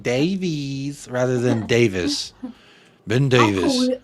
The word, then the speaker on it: Davies: Ben Davies is Ben Davis's name right it's Welsh and it's pronounced Davis not Davies but see I feel